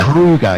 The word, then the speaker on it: Kruger: Kruger, yeah, Kruger, like the national park in South Africa.